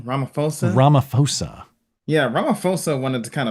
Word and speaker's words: Ramaphosa: Ramaphosa.